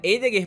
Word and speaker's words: Heidegger: A pronúncia certa seria Heidegger, porque começa com H, mas enfim.